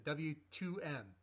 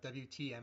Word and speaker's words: W2M: It's the W2M, not WTM.